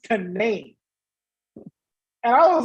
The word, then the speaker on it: Canaan: I thought it was pronounced Canaan, like in the Bible, but it was actually pronounced Canaan.